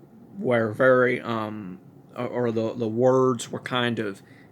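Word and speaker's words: אור: It's actually or. You're supposed to roll your R just a little bit.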